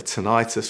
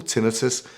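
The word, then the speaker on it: tinnitus: There's also a tonitis or tinitus, whichever way you pronounce it, section in the app.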